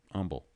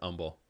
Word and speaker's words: Humble: pronounce in that word humble there is an h in that yeah but you're not pronouncing it right right because the people of that town pronounce it humble that's what they call